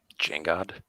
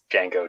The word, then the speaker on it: Django: With the D. The D is silent. Jangod? Django. No, just Django.